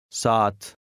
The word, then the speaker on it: saat: Number 8 has two A's side by side. They are pronounced with a very slight break between them. Listen and repeat. Saat.